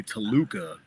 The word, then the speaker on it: Toluca: You ever hear the story about why he's from Tacula, Mexico? No, huh? It's not a real city. It's actually Toluca, but every time he told Howard Finkel, he mispronounced it.